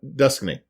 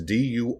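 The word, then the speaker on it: Duquesne: Now, Duskney, I pronounce it 2 ways now, but it's Durquesne, or S-N-E. Durquesne.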